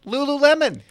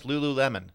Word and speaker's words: Lululemon: I never knew it was pronounced Lululemon. I always thought it was like Lululemon. Well, how do you pronounce that word? She goes, no, it's Lululemon.